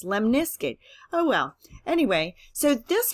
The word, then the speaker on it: lemniscate: you l-lemon iskut okay I know it sounds kind of strange maybe like limp Biskit but it's lemniscate oh well anyway so